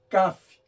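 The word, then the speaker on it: כ: iremos analisar é o CAF ó o CAF o CAF é um ser o contrário né o CAF tem um som de k e o CAF tem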